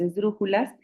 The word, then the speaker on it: esdrújulas: Si contamos las sílabas, la última sílaba sería las, la penúltima sería ju y la antepenúltima sería dru. Entonces es una palabra esdrújula y por eso lleva acento.